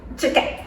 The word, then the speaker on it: Cecchet: Cecchet, that's it.